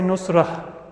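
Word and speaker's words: نصرة: Ta marbuta is a cross between a ha and a ta. If I'm pronouncing it at the end of a word, I'll say nusrah. But if it's in the middle of a sentence, then I'll pronounce the ta.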